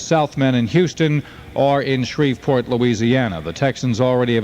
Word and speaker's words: Shreveport: I know no one has ever heard of Shreveport, but it's Shreveport, believe me. Shreveport. I know it's spelled with a V, but down there they say Shreveport because they're crazy.